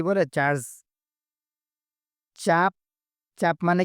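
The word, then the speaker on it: cap: চার্জকে কি বলে চার্জ চাপ চাপ মানে কি মার্কা সিএপি ক্যাপনাকিন্ডিরা চাপ মালয়েশিয়ান ভাষায় সি কে চ উচ্চারণ করা হয় সি এপি চাপ এর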